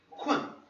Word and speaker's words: 困: Eu sei que aqui parece estar escrito kun, mas isso é a pronúncia do chinês, a gente vai também estudar isso depois. Mas isso aqui é 困.